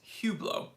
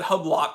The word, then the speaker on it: Hublot: why do people hate hugh blow i don't know how to say the name well it's hublot but if you said hublot i wouldn't really care uh because they're trash